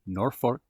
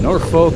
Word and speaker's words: Norfolk: we were off to Norfork Nebraska where we'll spend four nights at a city park looking great well nor folk but they seem to pronounce it nor Fork Nebraska and this is a